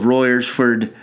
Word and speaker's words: Royersford: This club is apparently amazing, and the good people of Royersford, nailed it again. I've seen too many people be like, I don't know how to say that. Royersford. It's spelt like it fucking said.